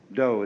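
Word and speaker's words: 道: called in Japanese Judo do is the Japanese way of pronouncing da The Gentle Way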